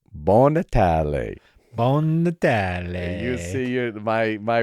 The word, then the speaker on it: Buon Natale: So, Mark, it's Buon Natale. Buon Natale. You see, my relatives are going to love your pronunciation.